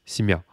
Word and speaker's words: семья: Je vais vous indiquer l'accent tonique de семья, qui est ici, семья.